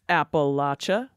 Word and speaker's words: Appalachia: debater Kyle from Appalachia in Appalachia we pronounce it Appalachia Rose Kenner and Jim